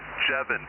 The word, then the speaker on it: Jevin: Oh, yeah, and the name is actually is Jevin, pronounced like Kevin, rhymes with Kevin, although the spelling, it looks like Javon.